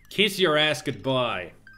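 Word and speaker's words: Kiz Urazgubi: Scooby I just realized how you're supposed to pronounce that last planets kiss your ass good-bye kiss your ass good-bye yeah kiss your ass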